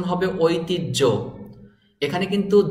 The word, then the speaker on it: ঐতিহ্য: হটি জ ফলা আছে এখানে এই হ বর্ণটি উচ্চারণ হবে না এরকম আরো অনেক শব্দ